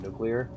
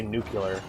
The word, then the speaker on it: nuclear: Like uh the horrible messed up pronunciation that George Bush had of nuclear. He would always say nuclear. Like he would always pronounce it wrong.